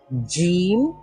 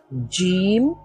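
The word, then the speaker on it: جيم: এই মধ্যভাগটাই লাগবে না এই মধ্যভাগের সাইডের অংশগুলো লাগবে উচ্চারণ করার সময় তো এখান থেকে কি উচ্চারিত হয় জিম জিম শিন আমাদের কোনগুলো লাগছে এই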